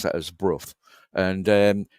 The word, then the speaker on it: Brough: We pronounce that as Brough, and it's where the British Aerospace Factory is, as you know, manufacturers of military equipment and so on and so forth.